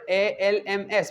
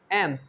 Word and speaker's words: alms: एम्स, एम्स, it is a word ALMS, but L is silent and most of the time most of the people pronounce this as alms, so it will be wrong. Ams, ams mean that L is silent, so ams, khairat.